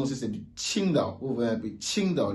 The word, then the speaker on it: Qingdao: La prononciation aussi, c'est du Qingdao. Vous voyez un peu Qingdao, le Qi, Qingdao. Il n'est pas dit Qingdao avec le J, non, c'est différent. Le J, c'est Ti, le Q, c'est Chi.